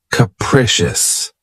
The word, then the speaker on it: capricious: my favorites is capricious this word has three syllables and the stress is on the second syllable keep in mind that the first syllable has that schah sound K precious capricious if someone or something